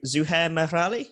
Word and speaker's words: Zuhair Merali: Also want to talk about the sort of audio design, and I want to shout out to Zuhair Merali.